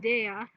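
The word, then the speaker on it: Déjà: with the help of Deja, or Deja, whatever you like to call it. D-E, accent on the E, J, accent on the A, right, go, yeah, accent on the A.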